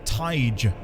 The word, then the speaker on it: thaig: Thaig is pronounced Taige.